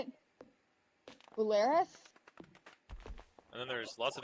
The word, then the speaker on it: Belarus: Belarus? And then there's lots of ableism on the internet too. Also, it's Belarus.